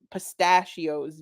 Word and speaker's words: pistachio: Pistachio, he repeated. Wait, pistachio. Bunker stress each syllable.